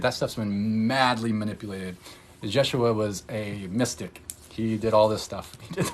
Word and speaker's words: Yeshua: wasn't Jesus either I mean that's how we pronounce it as you know White America it's Jesus it's Yeshua you know Joshua yeah and there was actually